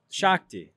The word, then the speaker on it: Shakti: How do you pronounce it? Shakti. Shakti.